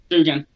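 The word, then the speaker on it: Duggan: Max Duggins leading the way, man. Duggins, is it Duggins or Duggins? Dugan, I believe it's how you say it.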